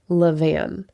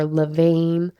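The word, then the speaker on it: levain: There's another word you'll hear, leavan, spelled l e v a i n. You may also hear that word pronounced differently. Leavan sounds fancy or levane, leavon, however you hear it, but the concept is simple.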